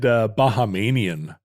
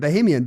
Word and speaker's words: Bahamian: I said Bahamanian for a long time. You added a syllable. That was a Roderickism. Well, that's because that's what Panama does. It should be Panamanian, like Canadian and Bahamian, but it's not.